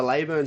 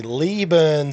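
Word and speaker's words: Leyburn: they keen on the Lurn Sprints for having the van? Oh, now you have to go straight to jail. The Lee Burn Sprints. Lee Burn. Just because it's spelled Le L E.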